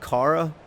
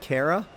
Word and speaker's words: Kara: Today's problem comes from it's pronounced Kara, not Kara.